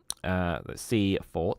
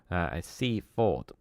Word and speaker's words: Seaford: The traditional Sussex pronunciation of the name has a full vowel in each syllable, Seafort. However, outside Sussex and increasingly within, it is commonly pronounced with a reduced vowel on the second syllable, Seafort.